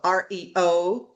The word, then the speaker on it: Aryo: Justin Abrams, he is the CEO of REO, but it's spelled like ARYO.